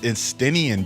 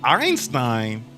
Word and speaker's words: Estinian: It's Estinian, dog. Einstein. That's how I know you don't know no story. Like, he doesn't even act like an Einstein. Yeah, it's Estinian. Well, you know, when the characters say his name, you know, in the cutscenes, that's how you know.